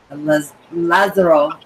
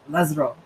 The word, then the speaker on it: Lazaro: His name is actually Lazaro with the Spanish accent. I got to say it right, Lazaro.